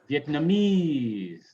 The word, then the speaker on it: Vietnamese: Stress ease in noun, Chinese, Japanese, Vietnamese, right?